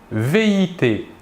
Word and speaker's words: vit: Nous remarquons que la prononciation du verbe est la même, vit. Nous ne prononçons ni la S finale ni la T finale. Par contre, il est obligatoire de les écrire.